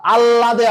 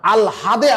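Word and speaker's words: আহ্লাদে: আল হাদ, আল্লাদে আটখানা না, আল হাদে আটখানা, আল হাদে আটখানা।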